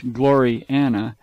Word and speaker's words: Gloriana: Gloriana, pronounced as two words, Gloriana, being the work of